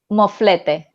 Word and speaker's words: moflete: Moflete.